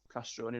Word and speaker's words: Castroni: So I've always, since being the kid in high school, having the Italy shirt on, being laughed at because, you know, Castroni rhymes with macaroni, and, you know, it wasn't an easy name to walk around with.